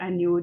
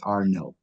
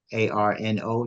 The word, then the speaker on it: Arnaud: And I'm just to correct, my pronunciation of my surname is Arnaud. Forgive like Arno. Just think of it like that. Arnaud is French.